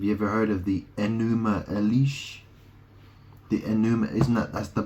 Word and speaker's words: Enuma: Well, enema is spelled E-N-E-M-A, but it sounds like enuma, enema elish, or elis, right?